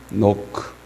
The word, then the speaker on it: knock: ask, seek, knock. knock가 K가 묵음이기 때문에 그래서 A-S-K 구하라, 찾으라, 두드리라.